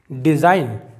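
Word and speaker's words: design: पहले जी साइलेंट है डिजाइन डिजाइन का मतलब होता है कोई रचना तो यहां पर भी एन के पहले जी साइलेंट है अगर आपको कोई प्रॉब्लम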